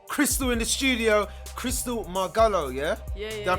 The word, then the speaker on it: Margallo: Chrystalle Margallo, yeah? Yeah. Did I pronounce that right? Margallo. Margallo.